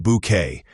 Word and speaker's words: Bucket: Routledge's Hyacinth was the ultimate satire of pretension, constantly insisting her surname be pronounced Bouquet and striving to appear upper class at all costs.